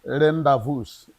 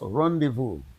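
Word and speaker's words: rendezvous: Uh some of you you call it rendevous. It's is pronounced rendevu.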